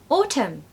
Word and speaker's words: autumn: okay so no l number five autumn autumn does no Anne did you know that have you been saying autumn autumn I mean that's actually